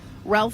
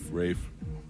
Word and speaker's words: Ralph: Ralph Fines. Rafe.